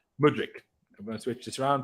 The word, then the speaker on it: Mudryk: ski um too many other goddess Michael is pronounced Modric I'm gonna switch this around put man into